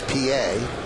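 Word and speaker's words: Pie: trying to be funny the batter's name is Felix PA but it's spelled pi and they have on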